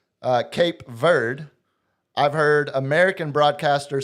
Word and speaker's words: Cape Verde: So I've been going Cape Verde. Ver Cape Verde. No it's verde. See Cape Verde. There's an e at the end, man.